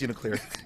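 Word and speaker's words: UNICLR: It's just uniclear. Uniclear. Uniclear.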